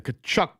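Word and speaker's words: Tkachuk: And the Kachchuck brothers, right? Silent K on that.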